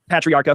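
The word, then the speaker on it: Patriarca: Uh as you know based on my research it looks like he was the driver for none other than Ray Patriarcha Patriarcha for all the pronunciation people senior uh had connections with Joseph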